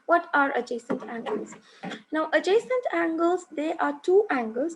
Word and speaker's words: adjacent: Now the D is silent here, so you pronounce it as adjacent angles.